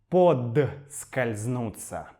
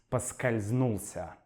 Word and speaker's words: поскользнулся: осторожно чтобы не подскользнуться Однако мы часто произносим это слово как подскользнуться подскользнуться я подскользнулся Но это неправильно Правильно говорить поскользнулся Однако вы услышите оба